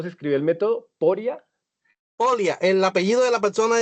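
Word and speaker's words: Pólya: Eh, perdón, pero ¿cómo se escribe el método? Poria. Polia.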